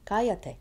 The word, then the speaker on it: cállate: Cállate, be quiet. And now the ca has been shifted over, so 1, 2, 3. It's 3 from the end, needs an accent written down.